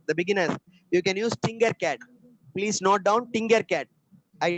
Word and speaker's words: Tinkercad: Use Tinkercad. It's not Fingercat. Tinkercad.